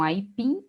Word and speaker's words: aipim: A mesma coisa acontece com aipim e menu. Aipim, menu. Então, essas palavras aqui também são oxítonas.